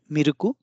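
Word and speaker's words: ミルク: that's why written in Katakana in Japanese and miruku is also in Japanese but it's a foreign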